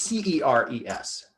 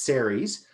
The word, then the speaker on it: Ceres: the correct spelling oh sorry you're uh it's c-e-r-e-s for the dwarf planet the dwarf planet is ceres a constellation is aries a-r-i-e-s so sorry that's